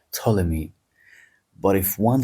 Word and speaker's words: Ptolemy: But in English, you pronounce the name of the king as Ptolemy because it's PT and it's like Ptolemy.